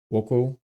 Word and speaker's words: Wokou: Woko. So, apparently you pronounce it Wo. Woko.